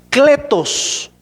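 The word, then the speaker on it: κλητός: escrito en griego que se pronuncia o se lee así, cletos de otra palabra que viene que que se pronuncia caleo, pero aquí es cletos, es llamado.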